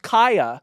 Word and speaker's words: Khia: But her name is pronounced Kaya, which is perfect because you're so unpopular that they don't know how to pronounce your name.